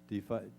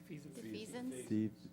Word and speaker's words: defeasance: Bill Volgen, our CFO, presented a request for authorization of a cash defiance. How do you pronounce it? Anyway. Defeasance.